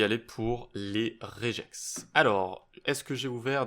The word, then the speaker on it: regex: le prononcer une une regex. Une regex ou une réjex. Alors moi je vais dire réjex. Voilà, je je le prononce je et pas mais vous faites comme vous voulez.